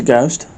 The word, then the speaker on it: ghost: He turned into ghost, but he spelled it with a silent h cuz he's Flemish.